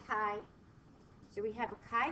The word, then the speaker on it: chi: write Kai like this we pronounce the chi Kai so we have a